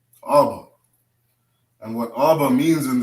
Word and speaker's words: Abba: So we put an ah and a ba together, right? We form the first Hebrew word, which is Abba.